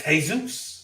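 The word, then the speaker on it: Jesús: But in pronunciation, there is not. So what looks like Javier is Javier. What looks like Jose is Jose. What looks like Jesus is Jesus.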